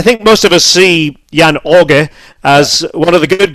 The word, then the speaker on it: Jan Åge: respect for, you know, pronouncing Jan Åge, which it is in Norwegian. I would say Jan Åge.